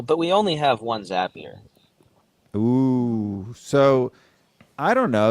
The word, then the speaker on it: Zapier: done it without zappier we all know how to pronounce it now too at least zapier makes you happier yeah makes you happier